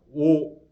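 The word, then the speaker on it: 於: 뭐뭐에 우리가 어로 많이 읽죠. 근데 감탄사일 때는 어라고 안 읽고 오라고 읽습니다. 오 목청묘의 목은 막하다 시 심원하다 깊다 그런 뜻입니다.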